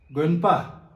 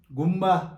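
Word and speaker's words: དགོན་པ: तर हाम्रो यहाँ त दार्जिलिङमा चाहिँ गुम्बा गुम्बा भन्ने गर्छ। किन त्यसरी भन्दैछ भन्दाखेरि यो उच्चारण गा नारो गो ना गन एन भन्ने उच्चारण चाहिँ नेपालीमा नहुनाले गर्दाखेरि गुम्बा गुम्बा भन्ने गरेको, वास्तवमा चाहिँ गन्पा गन्पा।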